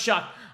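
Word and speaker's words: Shough: I can TR and Ste says pronounced shock I I'm sorry I've not heard of Tyler shuck too much I don't watch ACC football by the way Tyler shuck is 25 years old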